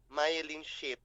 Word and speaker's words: myelin: P pronounce KO M mein Pano po p pronounce myelin myelin Yan po yes so the one that is